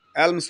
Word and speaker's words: alms: याद रखिएगा, ये हमेशा एस लगता है इसमें, ये आल्म नहीं होता है, एल्म्स होता है, ALMS। इसको आर्म्स बोलते हैं, एल साइलेंट कर सकते हैं, एल्म्स। तो he gave एल्म्स टू the bigger, याद रहेगा ना, एल्म्स होता है हमेशा।